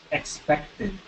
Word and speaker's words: expected: Expect, Expected. expected. Yeah, cuando tiene la T antes de la ED es otra sílaba. So no es expected, pero expected. Expected. Yes, Ted, como el nombre de Ted.